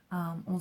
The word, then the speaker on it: au: In this case, the contraction is o. A, ou. On se prononce o. So you pronounce that just like the letter o.